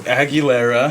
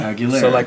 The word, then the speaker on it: Aguilera: Uh yeah, also tell us how to say your last name cuz I always spell it wrong. Aguilera. Aguilera.